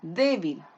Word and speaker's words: débil: tiene dos si la donde se carga la voz en de débil esa persona es débil acá en la penúltima sílaba si se carga la